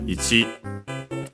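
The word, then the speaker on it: 一: And so, yeah, the Chinese one, ichi. Yeah, technically would be the accent on the chi, so on the last syllable. Sometimes you might hear it as ich, because of the rule of I and U barely heard if at all. When they are at the end of a word, but technically better at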